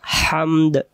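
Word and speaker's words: حَمْد: যখন আমি হা মিম এবং দাল পরিপূর্ণভাবে উচ্চারণ করব তখন এই অর্থগুলো হবে প্রশংসা। তাহলে আমরা এটাকে প্রশংসার আরবিটা হামদ হামদ আল সমস্ত প্রশংসা আপনার জন্য।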